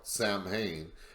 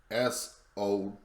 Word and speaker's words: Samhain: The Gaelic festival called Samhain, and I know it looks like it's spelled Samhain, but that's not the actual pronunciation. It's Samhain, or if you wish, Sowin, or Festival of the Dead.